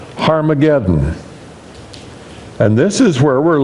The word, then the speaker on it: Har-Magedon: Usually you see it Armageddon, but if we're going to pronounce the Hebrew, there's that H sound, the rough breathing up front, so it has to be called Har-Magedon.